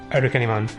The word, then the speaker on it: Arukenimon: Sorry, just to draw things back, we were talking about how Arukenimon in Japanese is pronounced Arukenimon, but spelled Archimon in fan subs because that's the quote-unquote official spelling.